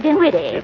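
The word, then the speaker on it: Dinwitty: what for Mr Henryetta din witty with an N not an m and the accent on the witty not on the D what do you want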